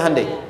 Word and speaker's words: Hyundai: bikin Honda sini Hyundai Hyundai kan dibacanya hundai ya kan sana Honda sini